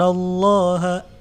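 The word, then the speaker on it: الله: Allah yang dibaca tebal Kenapa dibaca tebal karena sebelum lafzo jalannya ada huruf berharokat fathah nah Jadi dibacanya dalam tebal yaskurun allahyar kurun allah' menjadi Allah Allah lam tebal itu lemnya dibaca tebal sampai seolah-olah mulut kita penuh dengan huruf lam tersebut yadzkurunallah bukan menjadi a&w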